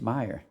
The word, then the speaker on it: Meyer: He pronounces his Meyer.